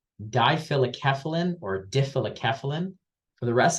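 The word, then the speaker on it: difelikefalin: that I can't even pronounce it but it's pronounced dilic keyin or keyin for the rest of this talk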